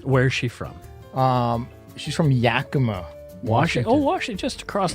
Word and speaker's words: Yakima: We're gonna lose all of our Yakima listeners. Yeah, true. So, she builds. I didn't mean to pronounce it Yakima. Oh, Mike, it's not Yakima. It's Yakima. Oh no!